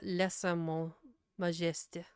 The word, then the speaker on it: lèse-majesté: that he failed to notice the act of lèse-majesté.